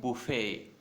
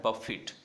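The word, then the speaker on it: buffet: हैं, उसको बोलते हैं बुफे। करेक्ट है। और जब ये वर्ब में है, जब इसका मीनिंग क्या होता है? स्ट्राइक अगेंस्ट फोर्सफुली, तब इसका प्रोनाउंसिएशन होता है बफिट।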